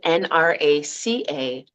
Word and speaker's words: Nraca: And it's Nraca, and it means healing strength. And it's capital N, capital R.